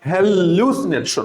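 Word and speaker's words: hallucination: এমনি তুমি পারবা হ্যাসিনেশন এইজন্য এখন থেকে পড়ার সময় সবসময় এভাবে উচ্চারণ করবা হ্যাসিনেশন ল এর উপর একটা জোর দিবা আর সমস্যা হবে না হ্যাসিনেশন হ্যাসিনেশন এরপর আছে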